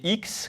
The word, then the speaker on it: Heex: êtes le cofondateur de x technologies on prononce bien x h le x avec étiez de boutons